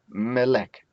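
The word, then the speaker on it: מֶלֶךְ: From here, we change the vowel and then we get melek. Melek. Again, this is the tone syllable.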